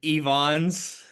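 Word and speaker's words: Ifans: I It's a Welsh name, so it's Ivons. Is is illf face how that will be pronounced? Eon. Ephons.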